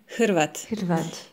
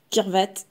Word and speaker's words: Hrvat: En fait, le mot croate, en croate, ça se dit Hrvat. Et sauf que les Français, ils n'arrivent pas à prononcer ce H-là. Du coup, ils disaient Kirvat.